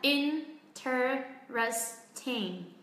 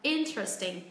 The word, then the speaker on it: interesting: Thực tế từ này sẽ có 2 cách phát âm. Các bạn có thể phát âm theo kiểu 4 âm tiết là interesting. Hoặc chúng ta bỏ cái âm ơ này đi, chúng ta là interesting. Sẽ chỉ còn có 3 âm tiết thôi.